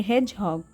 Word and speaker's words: hedgehog: यहाँ पे D silent होता है, इसे पढ़ेंगे हेजहॉग। तो हेजहॉग का मतलब होता